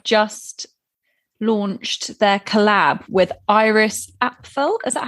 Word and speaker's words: Iris Apfel: My fashion story is that H&M have just launched their collab with Iris Apfel.